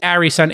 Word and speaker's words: Arison: welcome to the pod george harrison and i'm pronouncing correct it's harry son a-r-i-s-o-n correct that's correct and thanks for having